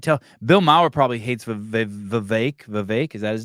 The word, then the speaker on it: Vivek: It is Vivek because I heard him do a rap and he said it rhymes with cake.